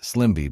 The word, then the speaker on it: SLMB: Program number two is called the Specified Low Income Medicare Beneficiary Program, SLMB, pronounced Slimby by most people who work with it.